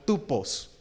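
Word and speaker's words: τύπος: griego es una palabra que se traduce se pronuncia como tupos y la idea es de una marca de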